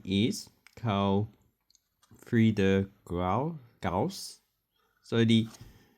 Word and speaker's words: Gauss: So they have his name at the front, and his name is Carl Friedrich Gauss. So what looks like a B on the end is actually double S in German.